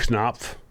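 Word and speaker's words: Knopf: to note a lot uh Greg it is pronounced knob uh the Publishing House I assume they're talking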